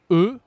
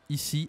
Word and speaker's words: E: E comme Eugénie. E comme Eugénie. Ici, attention, c'est E, d'accord? En anglais, on dit I, mais en français, c'est E, bien sûr.